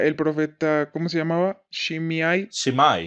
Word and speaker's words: Shimei: Shimai. Shemai, como quieran pronunciarlo.